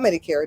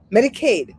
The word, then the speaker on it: Medicaid: Do I say it right? Medicaid. Medicaid. Medicaid. So Medicare is for 65 and above. Medicaid is for under 65. And that's what all the other states call it, Medicaid.